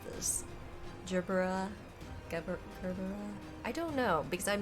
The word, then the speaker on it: Gerbera: So Gerbera, apparently, is how it's pronounced.